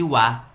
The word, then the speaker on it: は: Mas quando ela se torna uma partícula que ela indica alguma coisa, ela a gente pronuncia ela da for, a gente a pronuncia de com esse som de wa.